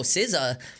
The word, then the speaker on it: SZA: It's like, no, it's not Sa. I was like, what is it? It's like SZA.